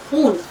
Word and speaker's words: खून: अब देखिए लज खून याद रखिए ख की आवाज अलग से निकलती है अक्सर आप सते खून खून खून हो गया ठीक तो खून जो है वो गलत लज है आपको अपना उच्चारण सही रखना है सही लफ्ज है खून अच्छा उसने बेचारा रोने